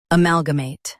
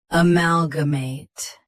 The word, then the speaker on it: amalgamate: Amalgamate. Amalgamate. Stress mate. Keep g soft and say mal clearly.